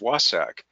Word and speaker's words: WSAC: achievement Council by its acronym which is wsac pronounced wah sak you will probably find